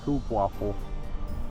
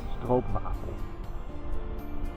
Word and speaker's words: stroopwafel: Many people love them, and when I hear people from other countries trying to pronounce it, they say stroopwafel. Well, it's actually stroopwafel.